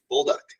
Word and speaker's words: Bolduc: we've got here bold duck bull duck right right okay yeah all right